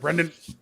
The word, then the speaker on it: Brendan: It said Brandon instead of Brendan.